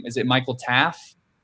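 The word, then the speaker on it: Taaffe: Is it Michael Taff? That's how I pronounced it.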